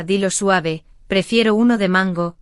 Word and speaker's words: mango: Otro error es el acento en mango, que ya dijimos. Repite conmigo, rápido, mango. Otra vez, mango. Vale, suena mejor, ¿sí?